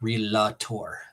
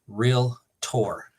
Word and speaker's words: Realtor: it's real tour not realator so you know don't think of the Sound and Music just think real tour um that drives me